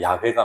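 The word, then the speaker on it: 야훼: 그만큼 정성을 드리고 그래 가지고 하나님이라는 단어 여호와라는 단어인데 여호와라고 읽기도 하고 아니야 아니야 여호와가 아니라 야회가 맞아래 원래 히브리어는 모음이 없고 자원만 있었기 때문에 자원만 있으니까 히어 있고 그다음 뭐 그다음 뭡니까?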